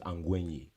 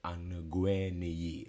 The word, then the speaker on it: Angwenyi: So my last name is Angwenyi, but then like it's NYI. A lot of people have trouble. It's one syllable, so it's like Angwe and then. So it's like, it's just follow through. But then people say Anagwe, like it's like you don't pronounce every letter.